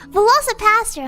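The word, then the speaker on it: VelociPastor: I keep saying it wrong. I keep trying to say Velociraptor, but it's a Velocipaster.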